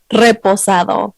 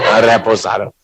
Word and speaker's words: reposado: That you probably not say it like that. How you say it? Really? Oh, yeah. Come here. You pass that back here. Get it. Reposado. Reposado. What's the attorney do?